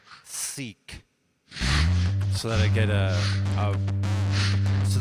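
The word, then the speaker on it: Sikh: Probes also clarifies that it's pronounced seek, so that I get so that I can approach a more proper pronunciation, a proper, respectful pronunciation.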